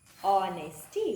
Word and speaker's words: honesty: And the next word is honesty. What is the word? Honesty. Here it is silent.